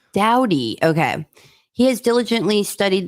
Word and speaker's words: Dowdy: Dowdy. Dowdy.